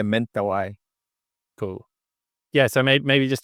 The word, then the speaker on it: Mentawai: Yeah, Mentawai correct. is how do you say? Yeah, mental I.